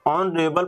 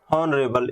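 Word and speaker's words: honourable: तो यहाँ पे आपका एच होता है साइलेंट, ऑनरेबल पढ़ते हैं ना कि हम लोग हॉनरेबल, इसलिए यहाँ पे एन लगेगा।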